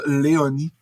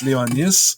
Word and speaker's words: Léonis: Puis elle prononçait ça Léonie. Ah, Puis là, moi, j'étais genre, ouais, ça se prononce Léonis.